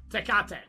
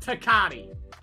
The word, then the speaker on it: Tecate: Tecate Tecate yes no yes Tecate it's not takati takati is wrong day I don't think it's takade Tech eight it's not Tech eight to Kate to Kate